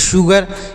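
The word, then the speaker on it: sugar: हैं next word है एस यूजी ए आर इसे पढ़ेंगे शुगर एस यूजी ए आर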